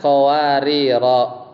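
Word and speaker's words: قواريرا: Kalau dia waqaf bacanya kanat qawarira.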